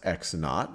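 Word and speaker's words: x₀: So let's say that this point right over here, this x value is x sub, well, this is pronounced x naught, or this x sub 0 is just x naught.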